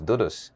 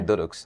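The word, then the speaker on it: doux doux: word it means sweet sweet the correct pronunciation of the word is dudus but because of my tie tongue I say duduk and that's why I chose to go about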